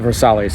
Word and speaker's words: Versailles: It's actually a city in named after the palace of Versailles and they call it Versale here.